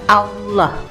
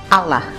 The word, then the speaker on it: Allah: atau dalam tulisannya AWWH, dan cara bacanya Allah. Menurut pelafalan Arab, jadi tidak ada orang Arab yang membaca Allah pakai huruf A, bukan O.